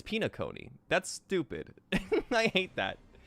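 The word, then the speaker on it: Penacony: It's like penal connie or penal colony. Penal colony. Pinaone. It's pinaone.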